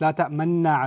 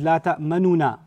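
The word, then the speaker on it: لَا تَأْمَنَّا: of it, which is la ta'manuna, ta'manuna ala Yusuf. Or you can just make the facial expression of a dhamma without saying the dhamma.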